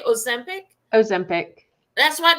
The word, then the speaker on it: Ozempic: Ozempic.